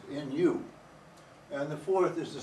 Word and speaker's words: nu: And for that we use the Greek letter new which is pronounced nu.